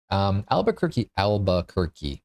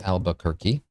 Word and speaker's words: Albuquerque: Albuquerque, 4 syllables.